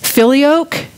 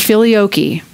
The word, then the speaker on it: Filioque: a lecture last week the two pronunciations I found for it were Filioque and feel yoky I don't know which one is correct or more correct but just so you know I did not pronounce that word correctly last week and it is Filioque or Philly okie and it is the